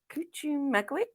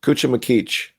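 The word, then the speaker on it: Cuchumaquic: The Unlikely Piece at Cuchumagwik? Close. Cuchumacreach. Okay. Yeah. We always Right. put So, the emphasis in the wrong place.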